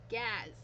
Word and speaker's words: Gaz: It rhymes with Daz as in dazzle. Gaz. Gaz. Oh, I've been saying his name wrong. It's Gaz. Like Gaz, dazzle and gazzle. Gaz.